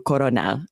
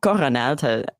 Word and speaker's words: colonel: They often will substitute L's for R's. Lots of languages do this. And so then the word came to English from French. And we didn't change it. We kept the pronunciation of the French colonel, coronel, but we kept the spelling with the L.